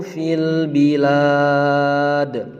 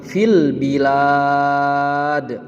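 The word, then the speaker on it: فِي الْبِلَادِ: Alladzina taghaw fil bilad. Alladzina taghaw fil bilad. Perhatikan dalam melafalkan fil bilad, itu cara membacanya panjang, kemudian di akhir kalimatnya dipantulkan nak ya.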